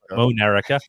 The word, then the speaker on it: Monerica: Like America, but Monerica. M-O-N. Yes, just sound it out. Monerica.